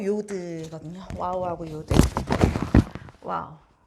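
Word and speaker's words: יוד: 그다음에 요드, 요드는 뭐 영어 ear 할 때 요 발음하고 비슷하다고 봐주시면 돼요.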